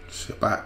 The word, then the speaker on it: Shabbat: So it's Shabbat. Shabbat, that's where they get the word Shabbat. Because it should be more like Shabbata, because it's three syllables.